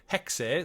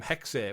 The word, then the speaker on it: Hexe: Assassin's Creed code name hexe so we were saying hex but it literally they do pronounce the E on it hex um following on